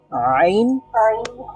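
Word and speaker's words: ع: করতে পারি হামজা হা তারপরে হলকের মাঝখান থেকে কি উচ্চারণ করে থাকি আইন হা তারপরে একেবারে শেষ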